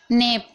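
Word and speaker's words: knee: नी नी में आप देख रहे हैं के के बाद एन है तो के को नहीं पढ़ा जा रहा है।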